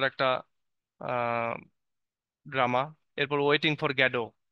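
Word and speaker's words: Godot: drama এরপর waiting for গ্যাডো যদিও লেখা আছে গডত কিন্তু গ্যাডো উচ্চারণ হয় তোমরা গডই উচ্চারণ করবা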